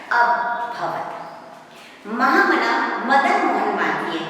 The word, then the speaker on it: अभवत्: जो एस के काकाजी ने वो अ से प्रोनाउंसिएशन उसका होता है अभवत्।